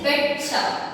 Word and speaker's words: betcha: I need you अपने जो third meaning जो लिखा I betcha, it is betcha, okay?